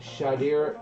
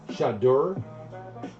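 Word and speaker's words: Shedeur: All right. Shader. It's Shadur. Shader. It's Shadur. Really? I thought it was Shader. All right. Shadur, it's called Shadur.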